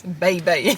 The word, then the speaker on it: Bae Bae: Ice Bae Bae. That's how it says. It's not baby, it's Bae Bae.